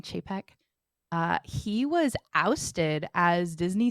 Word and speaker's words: Chapek: Bob Chapek, I think that's how you say it, like chafing Chapek.